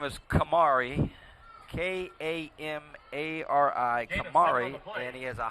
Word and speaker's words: Kamari: and um the quarterback's first name is Kamari k-a-m-a-r-i Kamari and he has a hyphenated last name